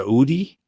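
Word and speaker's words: Oodie: But did I pronounce it correctly? The Udi? Yeah, you were exactly.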